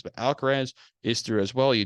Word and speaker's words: Alcaraz: you say his name you get alcara or alcaraz that's people say different ways but alcarez is through as well